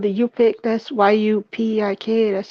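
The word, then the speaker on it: Yup'ik: my people come from We're actually called the you pick that's y-u-p-i-k that's how you spell it with an apostrophe in it all right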